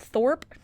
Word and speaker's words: Thorp: this other town called Thorp um what Thorp Thorp uh sounds like Thor I know right is it not it's spelled the same but with a p at the end and there's a restaurant